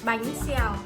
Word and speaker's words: bánh xèo: Bánh xèo.